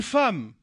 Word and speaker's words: femme: Une femme. Il est où le A dans femme? C'est E2M. E2M, il se prononce A.